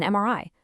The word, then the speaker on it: MRI: Same thing with an MRI. The sound is M, which starts with a vowel sound.